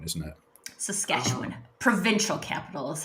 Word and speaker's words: Saskatchewan: Saskatoon is the state capital of Saskatchewan, isn't it? Saskatchewan.